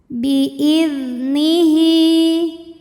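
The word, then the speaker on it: بِإِذْنِهِ: Bi'idnihi. Hi mad silah qasirah karena ada hal dhamir diapit 2 huruf hidup, huruf setelahnya selain hamzah, maka hak panjang 2 harokat.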